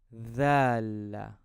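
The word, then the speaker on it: ذال: Now let's move to the next letter, which is dhal. Dhal. The. You can find this letter in the first part of the English word there.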